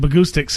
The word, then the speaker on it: Bahgoostyx: Well, acoustic rhymes with Bahgoostyx, and that's how it started.